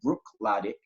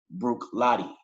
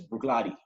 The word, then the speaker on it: Bruichladdich: So really and truly, it's not Bruichladdich, it's pronounced Bruichladdich. So the second CH is, you don't pronounce that. So it's Bruichladdich, basically, right?